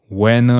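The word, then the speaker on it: Wehner: pasted this David Wner to pronounce his name properly almost say winner David Wner right uh he evaded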